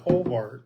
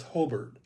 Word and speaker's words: Hobart: I said it's spelled like Hobart, but don't call it Hobart. Yeah. Because if you do, all the football team will come after you one night. Um, it's Hobert and uh when when